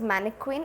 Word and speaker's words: mannequin: english means uh it's it's pronounced as manic queen in english and it has a